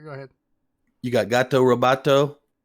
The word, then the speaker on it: Gato Roboto: I told him, is it Goto or Roboto? And he says, yeah. No, it's a Gato. Hey, it's Gato Roboto, and everybody knows it. Okay? It's spelled Gato, Gato, even though Roboto is Oto.